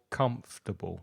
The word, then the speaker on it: comfortable: feel most comfortable in notice the pronunciation also of comfortable three syllables the first one is stressed comfortable uh write them